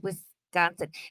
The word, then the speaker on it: Wisconsin: you gotta say it you gotta drag out the S Wisconsin and it's Illinois I heard